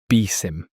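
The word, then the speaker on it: BSIMM: One of the most well-known is the building security and maturity model or BISM pronounced BIM.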